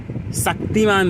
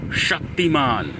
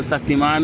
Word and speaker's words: शक्तिमान: जैसे कि मैं पहले शक्तिमान बोलता था। शक्तिमान लेकिन अब मैं थोड़ा ट्राई कर रहा हूं कि मैं एक्चुअली में जो श है शक्तिमान शक्ति तो अगर किसी को ज्ञानवान है ये सब का तो थोड़ा कमेंट सेक्शन में बताना कि क्या अब मैं सही से बोल रहा हूं या अभी भी मेरा शक्तिमान ही आ रहा है।